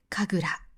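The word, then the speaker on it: 神楽: でも、神楽の場合はちょっと違います。この漢字 2 つで神楽と読みます。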